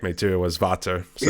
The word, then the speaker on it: Vater: Yeah, it is based on preference, but you're saying it wrong. It's Vater. It's a German, so.